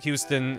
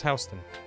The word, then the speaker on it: Houston: south of H Street which is spelled Houston but if you pronounce it Houston New Yorkers will laugh at you so it's hon and I for I think I think the hon pronunciation predates the Houston pronunciation I don't know it's